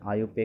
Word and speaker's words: IUPAC: पढ़ लोगे आप देखो इसका जो प्रोनाउंस होता है इसे इसका प्रोनंसिएशन आयु पे किया जाता है ठीक है और